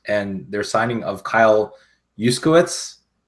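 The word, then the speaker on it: Juszczyk: their signing of Kyle yitz that's how you pronounce it right it's yuchi yuchi yeah for four years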